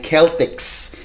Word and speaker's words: Celtics: Yang Celtics po hindi po yan team sa NBA. Okay. Actually po ang ah karaniwang pronunciation talaga diyan ay Keltics.